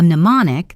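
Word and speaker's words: mnemonic: A pneummonic the M is silent is a memory device.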